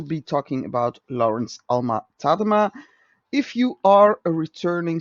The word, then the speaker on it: Tadema: used to call him tadima but then i found out that he was actually born in the netherlands so his name would be pronounced tadama but just to make